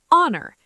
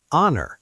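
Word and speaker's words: honour: Honor. H O N O U R. Honor.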